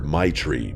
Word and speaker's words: Maitreyi: She laughed and told me everyone just calls her Maitri because that's basically how you pronounce it.